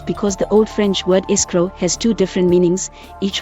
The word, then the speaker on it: escroc: The undisputed etymology of the English noun screw is from Middle French escroc, pronounced escroc, which evolved into present-day French écrou, pronounced écrou, and designates the nut of a bolt.